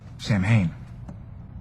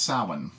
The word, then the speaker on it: Samhain: you as well sir sam hayne am i supposed to be impressed it's pronounced samhain and he should know that